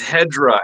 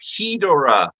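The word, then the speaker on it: Hedorah: awesome job Godzilla versus hedra hedora The Smog Monster however you want to say it and pronounce it I I love this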